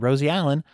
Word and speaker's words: Rosie Allen: Without further ado, let's get right into our conversation with Josh Wood and Rosie Allen of Improving Lives.